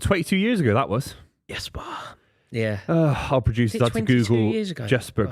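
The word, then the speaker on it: Jesper: So you say it Jasper. Jasper Krona. Yeah. Big big goal. It's Liverpool. Uh yeah, it's what 22 years ago that was. Yesper.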